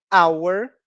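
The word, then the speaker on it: hour: consoante e algumas palavras como Hauer o h não é pronunciado então começamos com som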